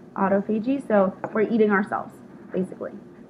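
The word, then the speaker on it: autophagy: anymore um and it's called autoag that's how you say it right there autopi so we're eating ourselves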